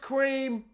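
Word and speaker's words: Creme: According to Cadbury's, it's meant to be pronounced cream. Cadbury's said it's cream.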